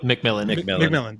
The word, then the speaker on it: McMillan: Was it McLennan? Was that how you say his name? McMillan. McMillan.